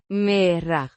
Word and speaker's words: Mira: Pronounced mee-rah. with the emphasis on the first syllable.